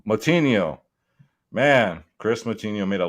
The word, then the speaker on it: Moutinho: guido canetti versus chris moy how do you pronounce it uh moutinho moutinho man chris moutinho made a legend it was